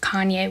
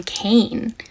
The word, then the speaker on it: Kanye: So I do not listen to Kanye West. I have never heard a Kanye song. I used to pronounce his name Kane because I'm a little dyslexic and that's how I read it.